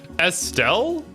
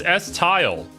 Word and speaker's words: Estelle: Estelle? No, it's S-Tile.